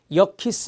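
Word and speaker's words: 여키스: 알파 게 말이 있습니다 여 키스 라고 읽어요 역 키스 그 다음에 치 시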